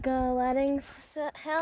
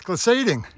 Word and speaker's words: glissading: It's that gliding hill. Pretty close. Glissading. Yeah. Maybe I'm pronouncing it wrong as well.